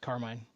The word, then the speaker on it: Carmine: Yes, it's pronounced Carmine, exactly like it's spelled.